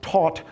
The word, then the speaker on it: Thoth: Because lo and behold, this figure here is Thoth, pronounced Taut, but for our purposes, Thoth, because it turns out, 10